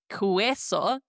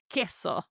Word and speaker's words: queso: Now, notice I'm not pronouncing it like the English word queen. Queso. No, this is incorrect. We're pronouncing it like the letter K. Queso. So every time I see qu u e or qu ui, I know that I need to pronounce this as the letter k.